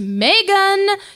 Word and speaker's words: McGann: Please, McGann. It's pronounced Megan.